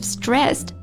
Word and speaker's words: stressed: r SS e d so I know that it's really strange to pronounce Ed as a t sound but that's a really common feature of English pronunciation yeah yeah well this happens when the consonant before Ed is an unvoiced sound and the s s